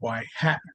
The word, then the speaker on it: y-hat: to know what the y-hat value is okay so this guy is pronounced y hat okay and then the